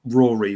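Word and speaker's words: Ruaridh: book which is um Rory which is I think that's how it's spelled it's r u a r i d h arrow and his book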